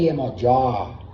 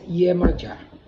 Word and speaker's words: Iemanjá: Pero la palabra Iemanjá, tal cual la pronunciamos nosotros, es no la deformación fonética, sino es lo más aproximado al sonido correcto de la palabra, que es Iemanjá.